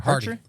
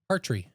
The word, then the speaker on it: Hartree: Hardy. Hardy? Hartree. Yep, you're right. Hartree.